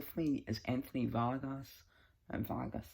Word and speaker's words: Vargas: Vargas is how you say it.